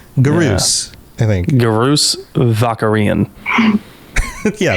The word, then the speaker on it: Garrus: But yeah, I wasn't really surprised that Garrus took as much of the answers as he did.